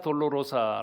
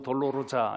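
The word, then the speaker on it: Dolorosa: 이제 이 키를 비아 돌로로사 라고 하는데 이게 다 t 늘 줘 비아 라고 하는 이 말은 질이라는 말이고 돌로로사 혹은 돌로 로 자 이렇게 발음하는 아 이 말은 싸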